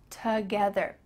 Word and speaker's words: together: Together. It almost sounds like ta, T-A, together, together.